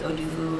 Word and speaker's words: Oduvu: It helped me to learn to embrace the fact that I'm a beautiful brown woman, that I'm African, my last name's Oduvu, and that it rhymes with doo-doo, like people would say when I was younger, and it make me mad.